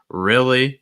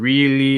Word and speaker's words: really: too tense um he really so instead of really it's more really compare that again really versus really trying to get that a little lower in the throat more relaxed he really next word